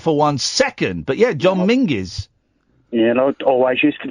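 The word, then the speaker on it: John Menzies: Well when John Menses used to be up and down the town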